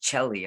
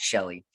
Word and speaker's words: Chelly: thank you so much i always want to say chelly i'm so sorry but i know it's pronounced shelly shelly and charlie for